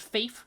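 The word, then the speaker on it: Fafe: getting the iconic uh I believe it's pronounced Faith rally stage in Portugal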